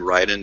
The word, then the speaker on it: Raiden: Oh, no, that was Raiden. Oh, I'm sorry. I'm surprised you actually pronounced it right.